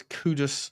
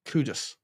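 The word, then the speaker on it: Kudus: It's cudus, not cudis.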